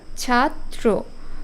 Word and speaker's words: ছাত্র: দ এর উচ্চারণ হচ্ছে আবার ছাত্র দুইটা ত উচ্চারণ হচ্ছে প্রথম ত এর সাথে